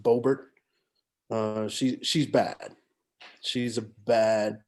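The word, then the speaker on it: Boebert: She is horrible, and it's that I think her name is pronounced Bobert.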